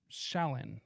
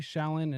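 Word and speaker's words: Shlain: This was revealed by Martin Lee and Bruce Shallon, I believe is how you pronounce his last name, who interviewed hundreds of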